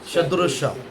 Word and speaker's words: सदृश: Pronunciation बरोबर आ रहा है, सदृश।